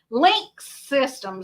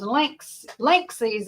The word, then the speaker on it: Linksys: It's not Link Systems, Linksys, I think is how it's actually supposed to be pronounced.